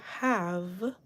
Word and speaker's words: have: Have, the E at the end is silent. The A makes the short A sound, so we hear ah rather than A.